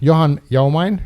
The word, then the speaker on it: Johan Jaumain: Mutta nyt me mennään asiaan, eli welcome, Johan Jaumain. Mm-hmm. Yeah, I'll take that. That's fine. It's okay pronunciation.